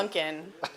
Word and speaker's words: Punkin: Yeah, pumpkin. No M.